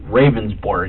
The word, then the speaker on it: Ravnsborg: Ravnsborg. Okay. But it's pronounced rounds, like a round circle. Okay. Berg, like an iceberg. It's Danish.